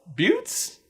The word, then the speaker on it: butte: Buttes? Hold on. Okay, so B-U-T-T is butt. B-U-T-T-E is butte. Turns out it's a liquid U.